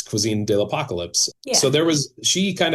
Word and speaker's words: Cuisine de la 'Pocalypse: had been, you know, people mispronounce it, you know. So I wanted her to be the one to call that out and everybody else be like this is so obvious. It's cuisine de apocalypse.